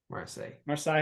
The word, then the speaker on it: Marseille: Marseille, how you say it.